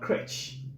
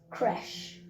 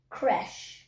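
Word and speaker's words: crèche: here is c-r-e-c-h-e um to me it's called crutch what is it pronounced as crash okay so you see is actually not correct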